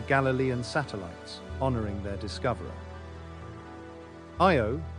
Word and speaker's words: Io: them as the Galilean satellites honoring their Discoverer IO pronounced IO is the closest of Jupiter's four large moons